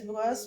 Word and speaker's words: brosse: Il se brosse because there's no accent on the last E.